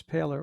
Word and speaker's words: Poehler: And by the time we got to California in the early '70s, uh, I met my mentor, this guy named Chris Paler, or it's spelled Polar, Poehler.